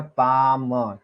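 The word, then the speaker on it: palm: पे बताया गया है जैसे आप पाम लिखते देख पी ए एल एम पाम ठीक है तो स्पेलिंग देखो पी ए एल है लेकिन इसमें एल का क्या काम है कोई काम नहीं है इसमें बोलते क्या है हम ये हो गया पाम ठीक है हिंदी में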